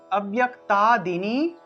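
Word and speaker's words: অব্যক্তাদীনি: জানি অন্তস্থ জ ফলা থাকলে সেটার পরিবর্তে ইয় উচ্চারণটা আসে ইয় ইয় তাহলে আব্য় তা দেননি আব্য় তা কয় তত অব্যক্তাদিনি ভূতানি অব্যক্তাদিনি এখানে দেখুন অব্যয় আব্য এখানে ব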